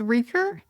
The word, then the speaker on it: Reeker: Oh, okay, so it's Reeker, and that is Old Norse for smoke because it's like smoke.